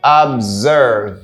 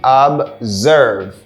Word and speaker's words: observe: is pronounced like observe observe here we have the Z sound say observe say observe what does that mean